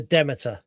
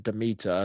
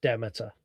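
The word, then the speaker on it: Demeter: It is the Demit. If you pronounce it right, it's the Deita and that's the ship that Dracula comes in.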